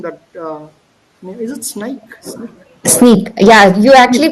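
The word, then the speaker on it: Snyk: Sneak. Yeah, you actually pronounced it right because people say it's Sink or Sinak or something.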